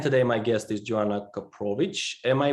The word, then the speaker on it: Koprowicz: interesting stuff and today my guest is joanna koprovic am i pronouncing that correct perfect the best version i've